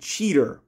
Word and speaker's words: Cheetor: they always pronounce it cheater but i always had a problem with that because there's an o in it so i've always pronounced it chi tour how do you feel